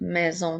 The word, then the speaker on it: maison: le mot là ensuite maison nous avons encore une fois la lettre S est encerclée de voyelle donc elle fait le son la maison comme dans la phrase